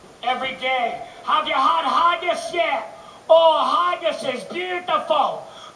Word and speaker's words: haggis: The national dish of Scotland is called haggis. I don't like to eat anything that rhymes with gaggis.